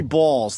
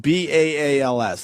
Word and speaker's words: Baals: And it's Harry Balls. It's spelled B-A-A-L-S. That's balls. B-A-A-L-S. Maybe go Harry Balls. The guy tried to change it to Baals.